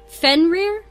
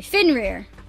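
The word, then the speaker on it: Fenrir: Like, okay, I like when I first read this word, fener. I believe that's how you pronounce it, but I am googling it right now because I don't want to mess it up. Fin rear. Okay, finer. Got it.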